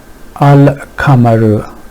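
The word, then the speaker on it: القمر: the oral cavity and kaf is somewhere here, so the articulation points are a bit far from each other, and it becomes easy to pronounce them. So al-kamaru, al-kamaru.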